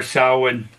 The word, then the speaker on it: Samhain: I said Halloween or Samhain.